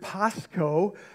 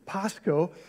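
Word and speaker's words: πάσχω: is about suffering of the Greek word Pasco you would probably spell it in English p-a-s-c-h-o Pasco is the word we get passion from and it means I suffer I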